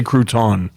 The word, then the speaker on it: crouton: He doesn't say crouton. French aren't big on the syllable at the end of the word.